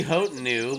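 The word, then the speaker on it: Hotenow: How do you say that? H-O-T. I think it's Hotanau. Hotanau? But if you want it to be Hotenu, let's do it.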